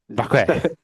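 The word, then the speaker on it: Vaquer: Vacque. You definitely say it properly. You will just say it as it's spelled. You're like Vacque.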